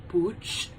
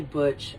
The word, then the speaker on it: Butch: behind Zed, and with Booch, I say Booch, I don't say Butch, I say Booch, because that's the way that Miss Villalobos had pronounced it in the movie.